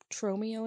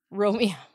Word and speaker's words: Tromeo: Tromeo and Juliet. I almost said it wrong. What'd you almost say? Romeo.